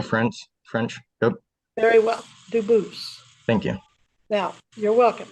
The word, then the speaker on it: Dubose: same exact spelling in America and they do pronounce it Dubose, but you said you pronounce it Dubose, as the original Dubose. As the original French French, yep. Very well, Dubose.